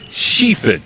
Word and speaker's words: Schiefen: By the way, it's pronounced Schiefen. It's not spelled that way, but it's Schiefen.